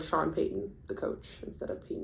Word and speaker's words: Payton: from there um so my name is Payton I say it like that because people never pronounce it properly so like um the football player pton Manning um or I don't spell